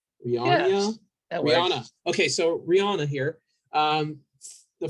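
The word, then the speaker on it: Rionya: Rion. I don't know how to say her name. Rihanna. Yes, Rihanna.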